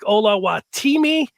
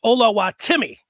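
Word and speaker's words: Oluwatimi: that's his name but while it looked like hola wattimi it is pronounced hola timmy olu olowatimi for those that are scoring at home and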